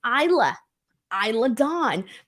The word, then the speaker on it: Isla Dawn: and Isla Dawn now Michael Cole kept saying her name wrong uh it's Isla Isla Don uh so for those